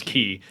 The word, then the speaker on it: quay: Every fucking dictionary online says key. And I was like, well, now I look like a putz. Yep. You learned something. It's like the keys.